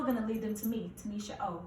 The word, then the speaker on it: Tuniscia: she's talking about every interview is done it's Tanisha oh it's very rare that people say Tanisha okay Kay I prefer people not to say